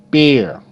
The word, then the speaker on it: bear: Bear. B. Air. Bear. Bear. Okay? E is silent.